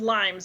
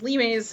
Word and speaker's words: Limes: so a lot of people pronounce it as limes but it's lee mae's because it's about it's a roman word for boundary markers but um basically it